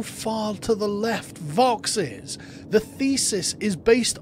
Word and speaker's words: vox: It's pronounced Vox.